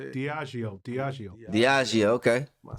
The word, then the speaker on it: Diageo: Diageo, okay.